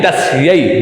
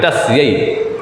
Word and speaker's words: तस्यै: अब ये ए नहीं, आई की मात्रा जैसी जिसका आवरण है, व्यवहार है, उसको उसके अनुसार ही हमें बोलना चाहिए, उसको उसके अनुसार ही हमें रखना चाहिए, उसी के अनुसार हमें उच्चारण भी करना चाहिए। ध्यान रखें आप, ये आई है, तस्यई, ध्यान रखें, तस्यई, ठीक है।